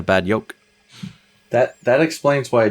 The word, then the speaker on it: Bad Yolk: So the way that Swedish people pronounce their J's sounds like a Y. So at the end of the day, we're just a Bad Yolk.